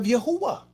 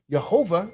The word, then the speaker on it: Yahuwah: the y sound so the letter j this is why you see jehovah instead of yahuwah because the j came from the i the iron the j is really the same thing they threw that into the confusion a little more man the j is nothing but the i were to tell and they both was pronounced with the y sound so it wasn't yahoo jehovah it was yahuwah very simple